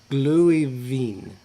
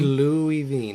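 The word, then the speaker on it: Glühwein: That's a W, not a V. I know, but the W is like a V for them. The W is pronounced Why like is a it a V. W instead of a double V?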